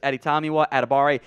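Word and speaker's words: Adetomiwa Adebawore: at a barre uh the W will will confuse you it's not supposed to be pronounced in that it's just editamiwa atabare he does go by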